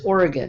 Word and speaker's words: Oregon: yes but there's no there's no e at the end so it's Oregon but thank you Brian